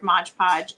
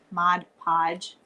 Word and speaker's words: Mod Podge: So, you're just going to take your Modge Podge and Mod Podge. I know people get upset if I don't say it right.